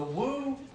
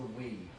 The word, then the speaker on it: Wii: The Woo. Okay. The Woo is the Wii. We just call it the Woo because one of us mispronounced Woo one day.